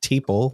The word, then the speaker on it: Teeple: His last name is Teeple, which rhymes with people, from Pinell County.